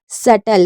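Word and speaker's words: subtle: B silent है और इसे पढ़ेंगे सटल सटल में भी हमारा बी साइलेंट है एस यू बी टी एल ई सेटल उसके बाद नम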